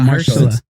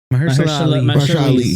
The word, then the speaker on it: Mahershala Ali: It's not Marshall. Mahershala Ali. Yes, thank you.